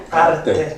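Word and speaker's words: arte: 이탈리 계신데 그죠 아트 그 이탈리로 발음이 어떻게 이탈리로 발음은 그냥 아르 아 아르 아르떼 아르떼 아르떼 아르떼 아떼 아르떼 그러니까 이게 지금 딱 말씀드리면 하시겠지만 예술이냐 미술이냐 이러면 벌써 헷갈리실 거 아마음 음.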